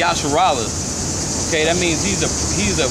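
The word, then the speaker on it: ישראל: Okay, in Israel in Hebrew, that means, you pronounce it Yasharallah.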